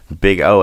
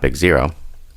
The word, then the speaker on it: Big O: Big O analysis pronounced big O, not big zero.